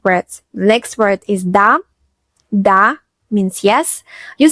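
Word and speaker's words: да: It looks like a little house, but it's pronounced D.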